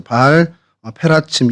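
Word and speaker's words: בַּעַל פְּרָצִים: 그래서 바알 브라심은 이제 페라츠라는 단어에서 이제 브라심으로 저희가 이렇게 표기를 하고 있는데, 그러니까 바알 페라츠, 바알 페라침 이렇게 발음을 하는 게 이제 원어의 발음이고요.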